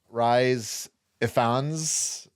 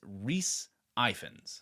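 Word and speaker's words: Rhys Ifans: okay first of all how do we pronoun his pronounce his name rise eans no it's Rees iens Reese iens I mean give it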